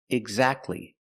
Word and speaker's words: exactly: Examples, exactly. Christmas. We see the T is between consonants, so we don't pronounce it. You don't say exactly, exactly. Don't pronounce the T.